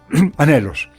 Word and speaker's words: anhelos: palabra anhelos Recuerda que la palabra anelos se escribe con N y con h intermedia que es muda porque tiene el mismo pero es una consonante y se podría leer elos pero para leerla de corrido anhelos Gracias hermano David porque